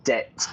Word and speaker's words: debt: am in your debt pronunciation there debt no B the B is silent to be in debt